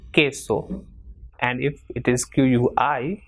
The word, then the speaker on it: queso: If after QU, which is ku, if E comes, then it will be pronounced as K. For example, QUE will be pronounced as K. For example, queso.